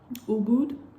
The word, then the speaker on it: Ubud: Ubud, that's how they say it, I guess.